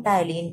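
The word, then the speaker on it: ptyalin: तो पी से लिखते हैं। ठीक है? पी साइलेंट होता है। फिर यहां से टलीन होता है। तो आप कभी भी इसे ऐसे नहीं पढ़ेंगे। आप हमेशा पी लगा करके ही पढ़ेंगे। यानी पी पी साइलेंट होता है इसलिए टाइलीन ऐसे लिखा जाता है।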